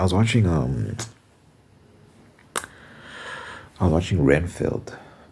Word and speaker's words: Renfield: watching um I'm watching Renfield how do you say renfeld I think that's how they're saying it in the movie is that vampire movie